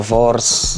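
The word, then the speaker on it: wors: Oh yeah, chakalaka, makwenya, and a vors. Vors, that's how you say it.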